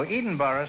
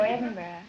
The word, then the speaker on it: Edinburgh: Oh, Edinburgh, Scotland, huh? No, Edinburgh. Oh, Edinburgh.